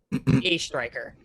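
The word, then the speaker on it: Oestreicher: c h e r a striker you put a pronunciation key next to this yeah it's a is in the letter a and then striker as in the cop the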